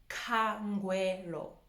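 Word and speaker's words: Khangwelo: Ka, because the KH. Kangwero. So by now, I'm sure you've picked up that the L's are really L's and not R. So the L's have to be the L, you know?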